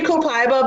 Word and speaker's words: copaiba: next oil is um copaiba that how you say it oh I see it hyuh I say comply bow because I'm from America and like everyone wants to